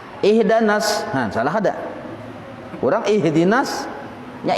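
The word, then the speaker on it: اهدنا: Ihdi dibacanya ihda. Nah, ini menyalahi tajwid. Ihdanas, nah, salah ada. Kurang ihdinas, nya ihdanas.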